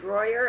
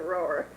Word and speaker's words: Rohwer: For 40 years, I knew it as Royer, and for the next 40, I pronounce it Rohwer.